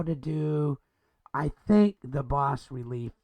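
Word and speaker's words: bas-relief: And the goal is, how do you use an image of the boss relief? That's boss spelled B-A-S dash relief. And so, but it's pronounced boss relief.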